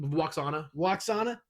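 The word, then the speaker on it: Lwaxana: Waxana. Yeah, how do you say it? Waxana, bitch.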